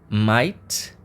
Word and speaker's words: might: você me temos então Might lembra de Eight Number Eight que a gente tem o g h Mas a gente não fala o GH a gente só fala